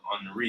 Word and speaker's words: Henry: Henry, Haitian. It's Henry is how they say it.